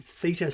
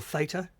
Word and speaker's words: theta: So you can get down to theta states, or theta, depending on how you want to pronounce that, and alpha brain states.